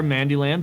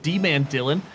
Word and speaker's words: D-Man Dylan: I've been pronouncing your name Mandy this whole time. It does spell it out, to be fair, Mandyland, but D-Man Dylan.